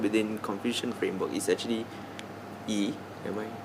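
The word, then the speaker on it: 义: For me personally, I think that the most important virtue or concept within Confucian framework is actually yi. Am I saying it right? Yeah, yi.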